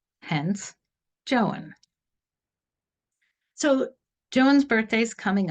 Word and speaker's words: Joan: Here in the United States, we would probably call her Joan, but in Uganda, each vowel is pronounced separately, hence Joan.